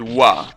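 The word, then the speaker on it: は: __ ] do you use the ha hiragana to you know separate the subject from the rest of the sentence and then you go and pronounce it wa why do you do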